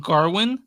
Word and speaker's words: Gawain: there were like 4 different ways to say his name. like Yeah, I've heard. There is. I looked it up And on. this one they Google. this one they call him Garwin, like with an R in it.